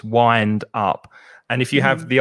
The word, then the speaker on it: wind up: And be careful of the pronunciation, because it looks like wind, but it's I, the vowel sound. So it's wind up.